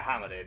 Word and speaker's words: hominid: I even remember seeing Alien Humanoid on the PSP once. Not a good game, but it was there. Wait, alien humanoid or alien hominid? Alien hominid. It's pronounced. Yeah, hominid is how it's. It's hominid.